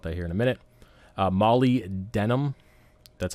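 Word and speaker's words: molybdenum: we'll talk about that here in a minute Mali denim that's how you pronounce it again is a little low and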